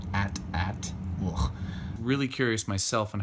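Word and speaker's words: AT-AT: is an 8080 or officially pronounced according to George Lucas at at well really curious myself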